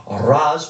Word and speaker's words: Ra's: His competition in the Sweet 16 is going to be determined between Raz or Raish, depending on your preferred pronunciation, Al Ghul, and Hela.